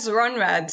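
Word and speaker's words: Rhönrad: Yes, Runrad.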